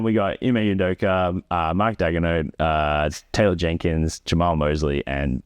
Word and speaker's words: Daigneault: And then we got Ime Udoka, Mark Daigneault, Taylor Jenkins, Jamal Mosley, and Tyronn Lue. Did you just pronounce it Daigneault?